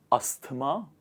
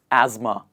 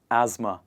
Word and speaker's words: asthma: definitely is something else we do not pronounce the th sound here we pronounce it like this please repeat after me ma asthma not asthma we say asthma the next one is